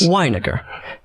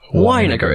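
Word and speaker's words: Winegar: Weiniger. Weiniger. It looks like vinegar. Yes. Which I understand. People would want to say vinegar.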